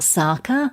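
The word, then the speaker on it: Tsaka: fashion the new range sarkar and that spelt TS AKA so the T is silent are based on ancient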